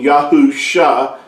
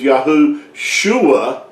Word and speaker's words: Yahusha: yahuwah yahoo you know the messiah's name being yahoo shah and but if you attach it then you say his name is yahoo shua what you're actually saying